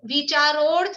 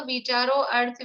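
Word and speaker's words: विचारोऽर्थ: A silent है, तो विचारोर्थ व्यंजन योग संक्रांति ऐसे बोलना चाहिए प्रोनाउंसिएशन। तो कोशिश यही करें विचारोर्थ व्यंजन योग संक्रांति ऐसा बोलें। और फिर भी जिनसे नहीं बोलता है तो विचारो अर्थ व्यंजन योग संक्रांति वैसा बोलें, पर सही तरीका वही है।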